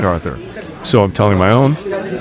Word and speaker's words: Arthur: Call me Arthur. Stress on the first syllable.